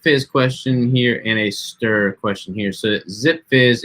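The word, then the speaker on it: Stur: And then Stir, it's actually S-T-U-R is the way the brand is spelled, and it's just a stevia sweetened water enhancer.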